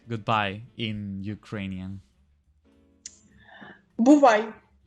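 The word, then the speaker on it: бувай: Buvai. Buvai.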